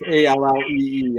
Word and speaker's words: Ali: So it's Mark Ali. It's Allee. I wasn't sure how to pronounce that, And well, I hope I said it right.